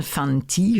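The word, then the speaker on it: Fante: chien stupide de John Fanty je pense que ça se prononce comme ça F a n T e c'est lu en français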